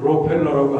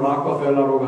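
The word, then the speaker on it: Rockefeller: 이 오늘 본문을 얘기할 때 이 본문과 특별히 직결되는 미국의 유명한 한 사람이 있는데 그 사람이 바로 록펠러라고 하는 사람이에요. 영어 발음은 락커펠러라고 하는데 우리말 록펠러라고 하면 너무나도 유명하잖아요.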